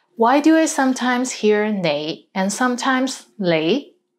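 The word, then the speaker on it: 你: is the word you the right way to pronounce it is nay but in hong kong many people pronounce it as lei lei let's get into more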